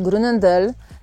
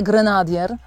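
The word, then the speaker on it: Groenendael: nie malinos czy malan podobnie grendel też nie grenadier A terwer to nie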